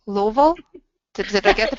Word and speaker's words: Louisville: Louisville? Did I get the pronunciation closer this time?